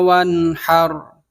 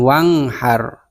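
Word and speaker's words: وَانْحَرْ: Fasholli li rabbika wanhar. Wanhar, bukan wanghar, bukan. Karena nun sukun bertemu dengan ha, ha itu adalah huruf halaq. Jadi dibacanya jelas, dalam tajwid disebut idhar halqi.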